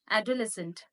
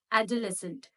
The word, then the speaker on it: adolescent: Adolescent. No, it is adolescent.